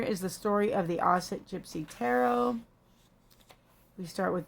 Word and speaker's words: Auset: and by the way asset is a pronunciation of it's the ancient egyptian pronunciation of the name of the goddess isis who is obviously his